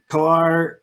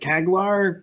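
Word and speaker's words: Çağlar: And so, yeah, I'm really interested for Kalar. So I was pronouncing it Kaglar, but it's like somehow the G is silent. So it's Kalar Kakan, who's the Neurolib developer, was saying that he's using Numba currently.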